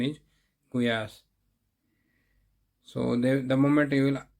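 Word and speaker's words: gulyás: it's from Poland after this kuyas they call gulas in India generally they call gulas but we the proper pronounce pronunciation is kuyas so the moment you will tell the name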